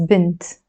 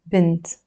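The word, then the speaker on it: بنت: And we pronounce this as bint, which means girl, bint.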